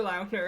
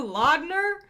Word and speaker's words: Lautner: Taylor Lautner came out, and he's like, it's pronounced Taylor Lautner, and everyone's like, it's not Taylor Lautner?